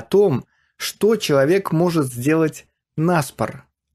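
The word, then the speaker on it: на спор: что человек может сделать нас пор обратите внимание на ударение во фразе нас пор она приходится на предлог на что довольно нетипично для русского акцент на предлог можно встретить довольно редко начнем с анекдота как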